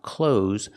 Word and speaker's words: clothes: There is no TH sound. It is pronounced close, like close the door. I'm wearing clothes.